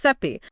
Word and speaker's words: Sappe: It's created by David Sappe. Pronounced Seppi. Pronounced Seppi.